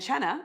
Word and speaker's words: Cena: And cena actually means dinner or supper in Italian. I learned That's that. cool. Isn't it? I didn't know that. Well, everyone says cena. It's spelled C-E-N-A, but it's pronounced Cena.